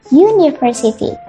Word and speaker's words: university: Karena memang ketika dia diucapkan bukan berlafalkan A atau bukan berlafalkan U, tetapi U, university.